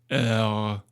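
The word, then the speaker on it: Eure: And I've gone around asking French people to make sure how to pronounce this département. And the general consensus is Ugh.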